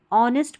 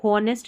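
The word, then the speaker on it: honest: ऑनेस्ट पढ़ना है इसको। ऑनेस्ट नहीं पढ़ना। एच साइलेंट है।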